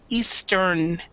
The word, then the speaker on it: Eastern: the the same way you need to pronounce the in so Eastern and Western n Western yeah exactly now is